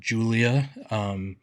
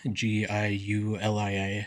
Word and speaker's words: Giulia: They had Julia, spelled with a G, Giulia.